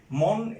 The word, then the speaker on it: মন: মন এটার একবারের প্রয়াস উচ্চারিত হচ্ছে, সে কারণে এটি একাক্ষ শব্দ, শেষে ন আছে, সে কারণে সে নয়ের উচ্চারণটা হবে সংবৃত অর্থাৎ পরিবর্তিত।